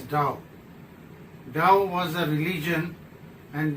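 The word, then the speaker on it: Tao: one Yang that is ta ta is a relation of the in and yang and it is also known and pronounced as da da was a religion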